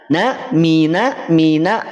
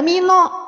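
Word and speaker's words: مِنَ: Jadi tipis itu adalah ketika fathah. Fathah ketika berada pada huruf tipis bunyinya adalah A. Mina, tidak mino. Awas, bukan O.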